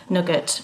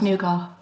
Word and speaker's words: nougat: I always called it Nugget when I was growing up and eating it. Yeah, so do I. But it's not, it's Nougat. Says who?